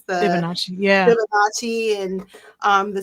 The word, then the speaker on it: Fibonacci: The Fibonacci.